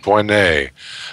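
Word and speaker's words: Voinnet: That's the EMBO, is the European Molecular Biology Organization, where Xu Wei Ding and Olivier Vonnet, how do I pronounce that? Vonnet.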